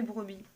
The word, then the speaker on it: brebis: on a souri alors regardez brebis ça se termine par une lettre finale qui ne se prononcent pas melek mais laquelle est ce que c'est le peu non automatiquement c'est pas le donc c'est le s en une brebis donc